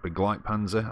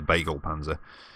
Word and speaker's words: Begleitpanzer: and yeah I know the title said big like Panzer I think that's the right the right pronunciation I just call it the bagel Panzer and that is definitely